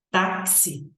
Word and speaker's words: táxi: x e o i mas ela tem cinco fonemas por quê porque o o x ele tem um som de táxi então ele tem um som de SC né o X tem um som de cs aliás né CS ou de k como vocês preferirem então observem meus alunos